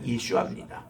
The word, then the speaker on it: 예슈아: 하나님이 바로 예슈아 그나 본래 발음이 예슈아 이거를 이제 헬라 말로 예수라고 번역된 것을 우리 한국말은 예수라고 번역한 거예요 중국 말에는 야소라 번역합니다